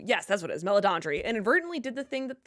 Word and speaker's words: Meledandri: It seems like Chris Mellon, I always never know how to say his name, Meledandri, who, yes, that's what it is, Meledandri, inadvertently did the thing that the Fleischer brothers, Don Bluth and Jeffrey Katzenberg could not.